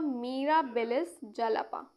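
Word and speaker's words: Mirabilis jalapa: इसका एग्जाम्पल हो गया क्लोरोप्लास्ट इनहेरिटेंस, किसमें, इन मिराबिलिस, sorry मिराबिलिस जलापा, मिराबिलिस जलापा, Meera से याद रहेगा काफ़ी लोगों को, प्रोनाउंसिएशन है इसका मिराबिलिस जलापा, इज governed by the plasmon।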